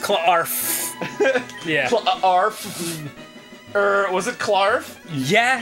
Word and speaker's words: Clarf: It's pronounced Clarf.